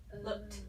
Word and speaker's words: looked: Looked. Looked. Looked. What's that ending sound? Like a T, right? It doesn't end in T. No. We just make the sound of T, right?